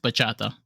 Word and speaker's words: bachata: So I think it's pronounced bachata.